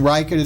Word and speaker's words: Reichert: is a aro n and then Ryker - spelled REI CH ERT that's where we for